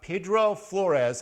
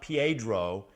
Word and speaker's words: Pedro Flores: so this week I'm going to talk about Pedro Flores and that's the way he pronounced it not Pedro and I think there are a few historical